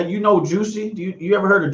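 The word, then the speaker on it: Jussie: he picked jesse but it's spelled in french and when you pronounce it american english it's juicy so juicy jesse did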